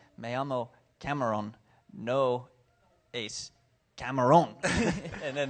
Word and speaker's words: Cameron: Because if I say my name is Cameron, then that means my name is Shrimp. And that's memorable in its own way. But I had to be careful where I put the accent.